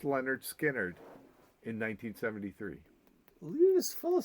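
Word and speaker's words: Lynyrd Skynyrd: hits a Leonard skinnard dropped pronounced Leonard skinnard in 1973 just full of surprises over there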